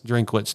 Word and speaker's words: Drinkwitz: both of those guys um coach I cannot pronounce his last name. Drinkitz. Drinkwitz.